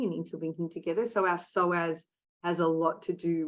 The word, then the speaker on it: psoas: And it's spelled P-S-O-A-S, psoas, so silent P.